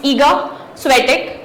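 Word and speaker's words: Iga Świątek: Again proper noun उनका जो country में कुछ अलग प्रोनाउंसिएशन होता है तो it could be different, but एज फार एज I know it's ईगा स्वेटिक।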